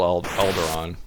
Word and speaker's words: Alderaan: Alderaan. That's correct. Despite how you spell it, it's still Alderaan.